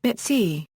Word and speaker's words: BITC: BITC, burnt-in-time code, pronounced BITC.